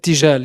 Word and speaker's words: Irtijal: But Sanam, the project, as I say, it traces its origins to, is it the Irtijal festival? Is that how you pronounce it? Irtijal, yeah.